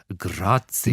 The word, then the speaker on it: Grazia: I think it's pronounced Grazia.